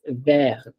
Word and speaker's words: vert: But take, for example, vert. Okay, this is VERT. It's pronounced as ver. The T is not pronounced.